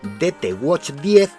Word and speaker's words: DT Watch 10: Voy a mencionar una cosa, y es que aunque en la caja el número 10 del modelo aparece con una X, yo voy a pronunciarlo DT Watch 10 y no DT Watch X, para no confundirlo con un DT Watch X que lanzaron previamente y que es diferente a este que estamos viendo.